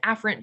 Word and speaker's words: afferent: pharynge right you know this word is normally pronounced afferent but i want to emphasize afferent which is